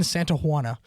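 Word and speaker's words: Santana: We find the name and I later realized I was pronouncing it wrong the entire time. Who was it? Brian Santaana. Santa. You're saying Joanna. I was I was saying Joanna.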